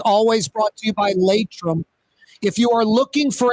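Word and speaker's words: Laitram: That segment every Friday with Michael Heck from Greater New Orleans Inc., always brought to you by Latrim.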